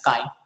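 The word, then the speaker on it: chi: is equal to Kai this is Greek letter okay which is pronounced as Kai Kai e abson time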